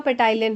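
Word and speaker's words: ptyalin: अमाइज या फिर आपका पे टाइलन हो ठीक है या टाइलन भी बोलते हैं कुछ लोग मतलब पी साइलेंट कर देते हैं ये दो दोनों नाम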